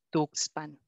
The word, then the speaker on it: Tuxpan: que tenemos aquí con tuxpan que suena como habitualmente nosotros pronunciamos la letra x tuxpan pero qué pasa xochimilco